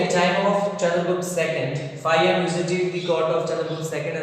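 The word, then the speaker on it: Faxian: Okay, as the descriptions provided by Fayan, who visited the court of Gupta ruler Chandragupta II. Fayan, it is written as Faxin, but its pronunciation is Fayan.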